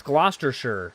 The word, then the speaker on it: Gloucestershire: Mad Brody says it's not sheer, it'd be sure.